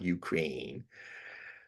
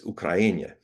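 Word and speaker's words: Україна: I've always been for people pronouncing names as the natives pronounce them, not Ukraine. It's Ukraina, not Russia.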